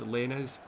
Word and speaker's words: Lainez: Lainez. So his name's Diego, as you would spell it.